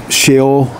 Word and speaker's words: Sheol: And he apparently was not in heaven, but in Sheol, S-H-E-O-L. I never pronounced that right. It's pronounced different than it's spelled.